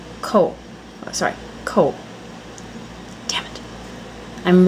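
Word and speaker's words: 口: over a few here's one that I was pronouncing wrong forever so hopefully I didn't bring it up in any other Vlog it's co and it means mouth simple little box and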